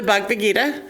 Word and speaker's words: Bhagavad Gita: And some of the texts include the Bhagavad Gita, which I always say wrong. I leave a syllable out in the middle. I just realized as I said it.